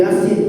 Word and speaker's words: Yasin: Apalagi buku Yasin tuh lengkap banget, terjemah, ada translate bawahnya, Pak. Dia baca Ya Asin dibacanya. Yasin jadi Ya Asin.